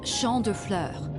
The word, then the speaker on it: Champs de Fleurs: Champs de Fleurs? How do you say that? It's Champ de Fleurs. It means field of flowers.